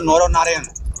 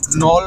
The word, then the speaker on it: নরনারায়ণ: আর রাজার নাম ছিল নরনারায়ণ, সেই হিসাবেই অনেকে এখানকার বাসিন্দারা নল রাজা বলতো, মানে নরনারায়ণ ঠিক মতো উচ্চারণ করতে পারতেন না, ওই নল বলতে কথা হয় সেইখান থেকে নল রাজা।